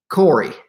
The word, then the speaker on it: Corey: And Nick Curry already told me, is Nick on here yet? Corey. I say Curry. It's Corey. Nick Corey.